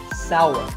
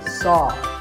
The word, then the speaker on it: sour: what about this text it's pronounced sour some people say saw that is a mispronunciation the only correct way to say this word is sour many words in the